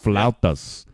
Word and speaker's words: flautas: In other regions of Mexico, similar types of food are known as flauta. Did I say that right? Flauta? Flautas. The burrito. That's how you say it.